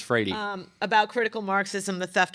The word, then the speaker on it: Freire: She told me it's Freire.